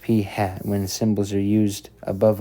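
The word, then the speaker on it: p̂: is a statistic uh we just use the Hat pronounced P hat when symbols are used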